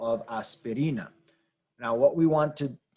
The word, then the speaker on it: aspirina: note here is that this is a word that ends in a vowel the rule in Spanish is when you have a word that ends in a vowel n or S is to stress the second to last syllable so we might look